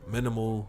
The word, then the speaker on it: MNML: shop at zara also minimal which is spelled mnmla outside of those places